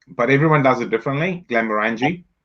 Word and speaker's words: Glenmorangie: And I'm going to correct my pronunciation on this one, eh? Like it's Let's see. Go on, try it. Glenmorangie. Yeah. I say Morangi, but everyone does it differently. Glenmorangie.